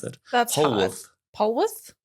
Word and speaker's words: Polwarth: Still don't know how to pronounce it. That's Polwarth.